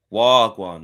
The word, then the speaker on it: wagwan: Wagwan. Not wag. Not wan. No, you don't have to. No, no, no, no. There's no need to stretch out the pronunci pronunciation like that.